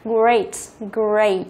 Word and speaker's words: great: Từ này cũng rất nhiều bạn hay đọc là great, đúng không? Nhưng mà nhớ là không phải là great mà chúng ta đọc chữ A ở đây, đọc là âm A. Great, great, âm A, A, A, great, ok?